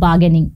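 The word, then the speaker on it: bargaining: है I don't like baganing मतलब मुझे मोल भाव करना पसंद नहीं है इसका जो आर है इससे प्रोनाउंस नहीं किया जाता है तो आय डोंट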